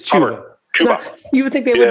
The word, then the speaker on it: Chuba: Hey, by the way, just quickly, the running back for Oklahoma State, how do you say his name? Cuba Howard. It is Chuba.